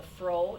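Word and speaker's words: froe: to get into the house barn was a fro it's pronounced for froh and that's a tool that's used to make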